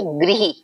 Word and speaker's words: गृह: लेकिन अगर हमने इसे ऐसे लिखना है तो हम इसे बोलेंगे गृह, री की साउंड देगा, री का उच्चारण मिलेगा इसमें।